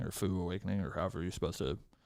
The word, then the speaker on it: Faux Awakening: It is fo fo. Okay. Foes like foes.